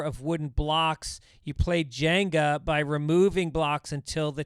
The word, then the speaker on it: Jenga: It's not Jingo.